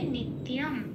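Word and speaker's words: নিত্যম্: 4 নম্বরে 5 নম্বরে তালিকাভুক্ত করে দেওয়া আছে ময় হসন্ত দিয়ে এটা প্রতিস্থাপিত হয়ে যাবে নিত্যম, এই উচ্চারণটা হবে সংস্কৃততে।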